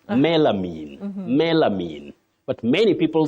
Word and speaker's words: melamine: you commonly hear locally how do people pronounce this word melanin or melanine but most of the time melamine oh yeah you have got it right melamine melamine but many people